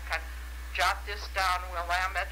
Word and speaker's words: Willamette: of jot this down willamette is you know not willamette river and things like that and uh and it was the year of the centennial of oregon like 18 1959.